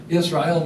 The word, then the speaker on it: Israel: changed his name to if you pronounce it Israel you hear the L at the end l means god Israel means wrestles with God